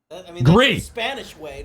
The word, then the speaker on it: Gris: writes in and says grist grease Grizz is the pronounced grease it's Spanish for gray yeah it's fine everybody